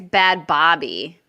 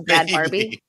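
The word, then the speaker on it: Bhad Bhabie: on on phil doctor are you sure that's how you pronounce that i think it's bad bobby is it like barbie no it's a bad barbie he's pronounced like almost barbie but i don't know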